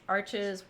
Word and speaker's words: Arches: got yesterday uh it's arches uh called arches but it's like arch um i think is how it's pronounced but everyone calls it arches for the most part um it's rough